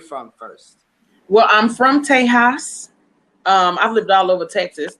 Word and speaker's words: Tejas: Well, I'm from Tejas. I've lived all over Texas. That's Texas for, that's the Espanol pronunciation.